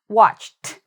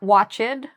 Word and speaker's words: watched: Okay, so this is actually the t sound. Watched. Not watched, watched.